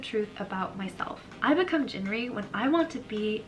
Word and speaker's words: Jinri: Jinri, or more accurately pronounced as Jilli, is my Korean name,